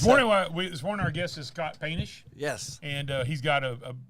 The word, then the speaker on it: Poetenisch: This morning our guest is Scott Poetenisch.